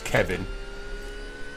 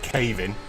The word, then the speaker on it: Kevin: Cave-in, by the way, is Kevin. For some reason, Jim pronounces it cave-in. There's no A or Y in it, it's Kevin.